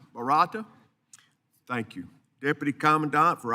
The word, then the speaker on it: Barata: Barata.